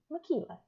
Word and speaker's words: Makila: He has on here Tequila, and of course I like tequila because it rhymes with my name, Makila, Sunrise.